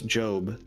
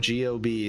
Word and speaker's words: GOB: It's Job. Job does magic? Job. G-O-B is how they spell it in the show. Because every time someone reads it, they go, gob?